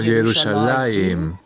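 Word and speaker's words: ירושלים: las vocales para nosotros, ya se pronunciaba como Yerushalayim, y todo lo que hicieron los masoretas fue registrar la pronunciación tradicional.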